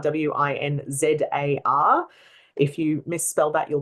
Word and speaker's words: Winzar: So my surname is Winzar, Winzar. If you misspell that, you'll probably find a tattoo artist on the Gold Coast.